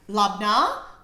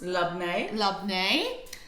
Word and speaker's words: labneh: So who has heard of Labna, or pronounced Labne.